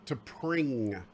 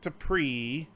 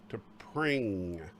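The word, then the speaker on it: T'Pring: Okay, no, to pring. Not to pre. I'll spell it out for you. T. To pring. Michael Burnham, the Wonder Dog.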